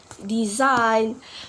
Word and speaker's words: design: So a letter G can be silent too when the letter comes before N. For example, like sign, campaign, design, foreign. Yep, we not pronounce the letter G, right?